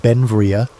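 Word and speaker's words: Beinn Bhreagh: Pronounced Ben Vria, Bell became an American citizen in 1882, but his name, meaning beautiful mountain in Scottish Gaelic, showed his Scottish heritage.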